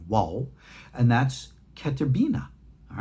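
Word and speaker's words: vav: here I write the original car of pronunciation of the volve it's not a V it's a w wall and that's cat Urbina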